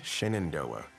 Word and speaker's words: Shenandoah: it still lures dear the name shenendoa is likely derived from the Native American language Algonquin pronounced shend Han Dy one translation interprets it